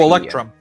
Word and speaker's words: electrum: How do you pronounce that? What? You have silver, something, gold, and it's EP. Oh, Electrum. Electrum.